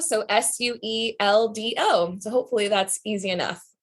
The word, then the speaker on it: Sueldo: So is spelled like North and South. And then my last name is Sueldo. So Sueldo.